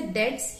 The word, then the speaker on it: debt: So it's pronounced as debt. So B is silent. Whenever you pronounce this word, don't pronounce the word B. It's debt, not debt.